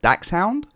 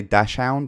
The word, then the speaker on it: Dachshund: It's pronounced Dachshund, but some people say Dashhound. I think it depends. But a miniature Dachshund.